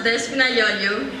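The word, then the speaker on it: Despina Yoyo: Next up, we're going to have Despinosa. Leo. Alright. We're sorry. Thank you for that original pronunciation. It's pronounced Despinayoyo, and my poem is called Taxidi.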